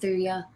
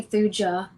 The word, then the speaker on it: Thuja: off, just go with Thuya. And some people say Thuja. My husband says Thuja. He tells me I say it wrong. No, we hear it both ways here at the store.